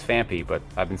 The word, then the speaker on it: Phanpy: There's absolutely no H. It's Phanpy, but I've been saying Phanpy for 15 years, and that's the way it's going to be.